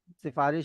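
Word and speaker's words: سفارش: वही बन रहा है सिफारिश इज मोर कॉमनली प्रोनाउंसड और वर्ड ज्यादा यूज होता है तो हमें पता है कि हां ये सिफारिश है सिन के नीचे भी जेर है रे के नीचे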